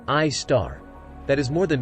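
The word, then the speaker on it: Sagittarius A*: The Milky Way hosts its own supermassive black hole at its center known as Sagittarius A, pronounced I star, that is more than 4 million times as massive as our Sun.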